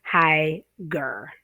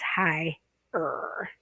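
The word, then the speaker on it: higher: Okay, so in other words, you wouldn't say high-ger. Okay, it's high-er.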